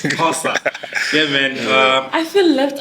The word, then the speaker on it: Xhosa: I just learned how to pronounce a surname in Xhosa, not Xhosa, it's Xhosa.